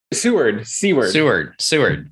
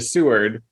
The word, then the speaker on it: Seward: Seward. Okay. So when we were in Alaska, we flew into Anchorage and then had to take a train to Seward.